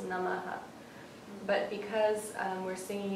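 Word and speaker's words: नमः: so that means that it echoes the sound that comes before it so it's actually pronounced namah but because um we're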